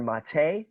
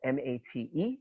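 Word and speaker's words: Maté: of hungry ghosts by a guy named dr mate his name is spelled m-a-t-e with a little accent over it dr mate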